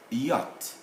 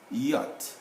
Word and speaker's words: yacht: a number of these yacht yacht and so that's how we pronounce we don't pronounce the ch but we write it letter d now we